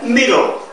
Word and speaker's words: middle: 하나만 발음하는데 그 하나는 우리말의 받침처럼 발음하고서 넘어가는 게 middle.